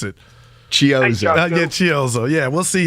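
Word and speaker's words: Chiozza: We're going to see Chorizo. He going to get some run. How you pronounce it? Chiozo.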